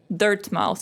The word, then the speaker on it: Dirtmouth: and we're the damn dirt mouth it's kind of like dartmouth yeah i think it's meant to be pronounced dirtmouth oh there traveler i'm afraid